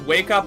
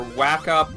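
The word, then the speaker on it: WACUP: It can be pronounced as Wake Up or Whack Up, Walk Up, however you prefer it in your native tongue.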